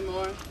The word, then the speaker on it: Moore: Hello, my name is Moore. How do you spell that?